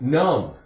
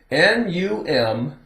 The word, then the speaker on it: numb: N-U-M-B, B is silent. Numb. It's not a long U. Short U. Numb.